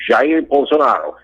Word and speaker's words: Jair Bolsonaro: Bolsonaro, okay, his name is Jair Bolsonaro, the correct pronunciation, Jair Bolsonaro.